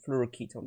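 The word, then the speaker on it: fluoroketone: ailo now with its fluo Ketone as it's pronounced not ketone apparently it's like from acetone someone wrote a comment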